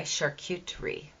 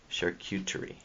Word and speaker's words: charcuterie: Am I saying charcuterie right? I can't spell it. The key to saying it is, it's my, and then it's the word cute, My Charcuterie. Charcuterie.